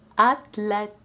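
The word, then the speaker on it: athlète: two words remembering that the th spelling is pronounced t in French attic atlet and now with a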